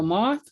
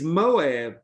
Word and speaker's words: Moab: a lot of cattle oh it's called the moth but you're trying to read it and i want you to think no no no that's how i pronounced it oh no no no it's it's moab but remember that land